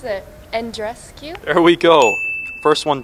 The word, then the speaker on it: Andreescu: I don't know how to pronounce it. Andreescu?